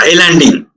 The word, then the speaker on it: islanding: In a power system network, that is called islanding. You may get confused with the spelling. ISLANDING, is landing, but S is silent there.